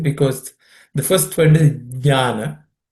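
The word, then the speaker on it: ज्ञान: Uh, just watch how we pronounce it, because the first word is jnana. It starts with a J.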